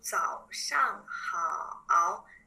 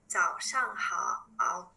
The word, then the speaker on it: 早上好: Good morning will be 早上好, 早上好. Shang here, like we don't really pronounce. We just like to make it together. So it will be 早上好, 早上好.